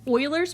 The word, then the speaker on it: Euler: to talk uh today about uh what's called euler's method not euler's method i know i can see how it's spelled it is pronounced euler so get yourself